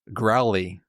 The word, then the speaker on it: Graoullly: It's spelled, for the record, Graullly. Nope, Graoullly. Sorry, yes. So who knows what to do with all of them vowels? Growly. Growly it is.